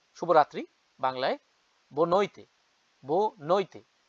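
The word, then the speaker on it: boa noite: good evening আমরা বলি না শুভ রাত্রি বাংলায় বো নৈতে বউ নইতে বো নইতে এটা কিন্তু ইউরোপ পর্তুগিজ স্টাইলে আমি বললাম উচ্চারণ কেউ যদি কেউ কাউকে জিজ্ঞেস করে কেমন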